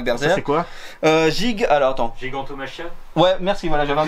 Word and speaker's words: Gigantomachia: Gigantomachia. Ouais, merci, voilà, j'avais un doute sur la prononciation.